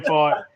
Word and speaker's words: Pfaadt: It is Brandon Pfaadt.